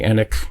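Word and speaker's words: Enigk: And as soon as you said the name Jeremy Ennick, is that how you say it?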